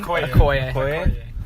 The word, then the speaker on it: Okoye: Basically like a Koei... Is that how you say it? A Koei? Okoye.